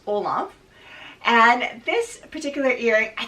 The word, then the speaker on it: Olympe: I had to look up how to pronounce it, but I believe it's pronounced Olympe.